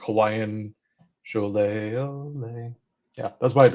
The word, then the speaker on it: Scholet: You just say Olay or show me Olay. Cholet. Cholet. I Now think of know. Bob Goulet, and that's how I never forget it.